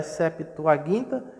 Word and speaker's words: septuaginta: a tradução da septuaginta a pronúncia correta é septuaginta e nós falamos septuaginta então essa septuaginta é